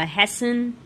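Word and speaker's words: hasten: Verb form आएगा हैसन. हेस्ट के आगे बस एन लगाना है, हैसन, है ना? उसका प्रोनाउंसिएशन डिफरेंट हो जाता है, हैसन.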